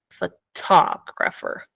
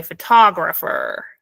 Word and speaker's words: photographer: of pronouncing is to put the stress on the second syllable and say photographer photographer now um this is